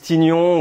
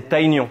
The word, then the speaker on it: Taon: Ça c'est Taon et il y a beaucoup de gens qui le prononcent bizarrement qui disent Tignon ou Tignon ou Taignon ou truc comme ça. Alors c'est Taignon pourquoi ? Parce que en japonais alors c'est Ibiwara et c'est le nom d'un